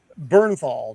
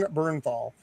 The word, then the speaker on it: Bernthal: It's all it's actually uh uh John and I always up the pronunciation of his last name. Uh Burnernthal. John Bernthal plays pretty much John Bernthal and everything.